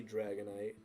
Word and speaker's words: Dragonite: later on will be Dragonite, which is why I called it night night because it'll make you go night night. And also it's spelled nit like the end of Dragon Knight.